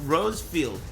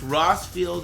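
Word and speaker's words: Rosfield: He's saying Rosefield. Did I say Rosefield? It's pronounced Rossfield in my country where I'm from. It's no big deal. However you pronounce it, that's cool with me.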